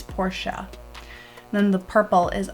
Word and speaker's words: Portia: And you don't say Porsche, because if you watch the show, you know that that's not how you say it. It's Portia.